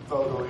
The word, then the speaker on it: Vogtle: Vogtle, yeah, right.